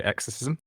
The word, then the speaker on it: Exercism: can tell us more what is exorcism do i pronounce it correctly and what is that platform actually sure you pronounce it fine so i would say exorcism x-ism is a platform